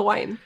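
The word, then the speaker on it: Nguyen: the chats win yeah win is ng you why yeah if I pronounce win now I happen to learn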